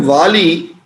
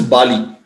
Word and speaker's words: Vali: The word Vali, also his name is not only said as Vali, but also quite often pronounced as Bali.